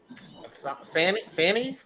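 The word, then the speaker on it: Fani: Georgia indictments on uh don don and yeah Fanny that's how you pronounce it Hispanic Fanny's not playing Fanny is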